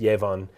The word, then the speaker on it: Yevon: Ebon oh right now in English they said yevon I think that would be a Yahweh and I mentioned evam there's other reasons why in the English it's pronounced yavon but in the Japanese it's just Ebon and